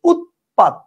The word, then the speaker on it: উৎপাত: কিন্তু উচ্চারণ কিন্তু আপনি দুইটাতেই সেইম করতেছেন উৎপাত উৎপাত আপনি কিন্তু এটাতে খন্ডত্ব আর এখানে ত লিখছেন দেখে আপনি বলেন না উৎপাত আপনি বলেন না আপনি বলেন উৎপাত তার মানে কি তার